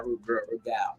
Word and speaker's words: Rude Gal: Let me say it right now, Rude Gal. Mandy. You gotta pronounce the G.